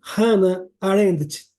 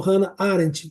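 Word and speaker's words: Hannah Arendt: com o nome de hann arend tá ou hann arent como a pronúncia de vocês aí e ela trata basicamente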